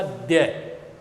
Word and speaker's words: द्य: ऐसे लिख देते हैं ये द बन गया और ये ये बन गया इसका उच्चारण होगा द्य द ये बहुत इंपोर्टेंट छोटी-छोटी